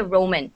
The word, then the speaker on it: Roman: uh Roman for example, do not don't roll your R so much. Don't go. Okay. It's just one R. So you just say Roman.